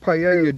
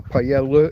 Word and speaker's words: paella: Oh, it's a very big gas burner, intended for big paella dishes, or paella if you prefer that pronunciation, incorrect as it is, but makes it difficult for me to control the heat.